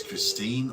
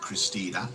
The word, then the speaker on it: Christine: This is Christine, or Christine with an E. We just pronounce the E in German, don't we, kid? Yeah. But it's not Christina.